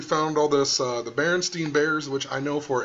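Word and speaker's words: Berenstain: a kid that um it was pronounced stain but it looked like Steen or whatever um even the movie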